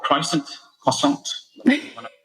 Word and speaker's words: croissant: I use an app called Croissant. You want to pronounce it as, depending on your nationality. My favourite one is Brazilians and the way they say croissant. What do they say? Croissante.